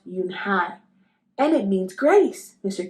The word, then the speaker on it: Unhei: then turned Joey she nodded slowly yes it's pronounced yunai and it means Grace Mr Kim added Yun High Joey said slowly and this time perfectly it